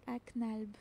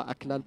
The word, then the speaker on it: Aknalb: C'est Azak Aknalb. Pas Aklalb, Asaka Oui, Aknalb, Azak.